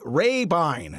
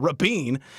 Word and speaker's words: Rabine: parking lot prodigy and a man whose last name we have indeed been mispronouncing gary rabine not uh rapine uh recently talked one-on-one